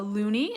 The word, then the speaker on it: loonie: it a loonie so this is called a looney and it's spelled l o o n i e looney